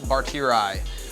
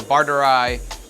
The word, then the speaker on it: barteri: is all of our Anubias barteri, or barteri, or tiri, however you would like to pronounce the Latin name, depending on my mood, and pronounce it differently.